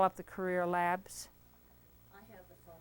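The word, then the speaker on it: Creer: It's C-R-E-E-R, Career. Career Labs. It's spelled C-R-E-E-R, not C-A-R.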